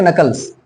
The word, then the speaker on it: knuckles: उसको हम बोलेंगे crack नकल्स। Crack नकल्स, KNUCKLES। ठीक है ना, क्रैक नकल्स। ठीक है ना, CRACKNUCKLES। ठीक है, ध्यान रखिएगा, यहाँ पे के साइलेंट है, क्रैक नकल्स बोलते हैं, इस बात का ध्यान रखिएगा।